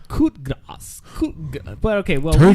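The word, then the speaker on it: coup de grâce: No, this is written wrong, because even up here it says the coup de grace. That's what he hit on. That's Mahal. How you spell it, though.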